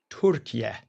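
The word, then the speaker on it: Türkiye: The president just landed in Anchora, Turkey. Or it's it's no longer, you know, it's no longer Turkey. It's properly pronounced Turka.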